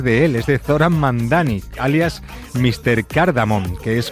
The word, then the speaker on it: Mamdani: Nadie sabe pronunciar mi apellido. Es Mamdani, pero a cada rato me dicen Mundari, Mumnari, y esto es algo que muchos inmigrantes Y tenemos.